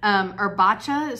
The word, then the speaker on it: Erbaccia: She actually gave us a pronunciation guide in the instructions of the pattern, Erbaccia Studio.